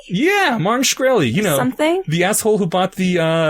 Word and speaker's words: Shkreli: is um Pharma bro Martin shrekelly is how you pronounce his name yeah Martin shkreli you know something the